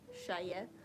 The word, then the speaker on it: Shya: One of my favorite um like crochet streamers is Shya, which I've learned recently that that is how you say it, Shya.